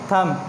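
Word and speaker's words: thumb: Okay, ये जो examples थी ये किसकी थी, एम और बी की, जिसमें से एम जो है वो अपना साउंड दे रहा था लेकिन बी जो है वो क्या है, यहाँ पे एज अ साइलेंट लेटर काम कर रहा है।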